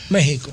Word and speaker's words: México: México. No, México, porque México ya hace lo mismo mexicano. Dice que es con X. Pero está bien, pero se pronuncia con J.